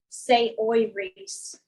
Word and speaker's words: Saoirse: I love you like pronouncing Saoirse, say oi Reese.